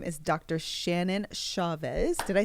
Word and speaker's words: Chavez: Shannon Chavez.